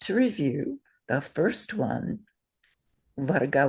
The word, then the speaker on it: varga: Say varga.